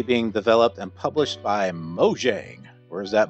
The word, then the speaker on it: Mojang: developed and published by Mojang where is that mo yang I have no idea how that's pronounced I'm gonna say mojang cuz it's kind of like mojo mojo jojo um when the game